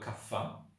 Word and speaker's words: kapha: create what's known as Kappa okay we we sometimes some people call it kapha because it's a pH the H is an aspirin H it's a cup so there's a bit